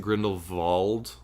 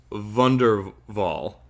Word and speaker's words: Grindelwald: that are you from I think technically you pronouncing Grindelwald like the W is like a V sound whatever go ahead and use ridiculous anyway here's wonder vol all right so fantastic